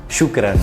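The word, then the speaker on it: شكرا: siempre, nos despedimos con esta palabra que significa gracias en árabe y que se pronuncia shukran.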